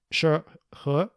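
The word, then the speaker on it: 涉何: So he sent an official envoy, and I'm going to try to pronounce it in the Chinese, Shi He, in Korean it's Sub-ha, as the official envoy to Uga to presumably issue a cease and desist.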